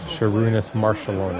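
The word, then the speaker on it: Šarūnas Marčiulionis: Sherunis Maron.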